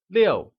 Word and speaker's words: 六: 6 translates to 六 and is pronounced with a falling tone, like 六.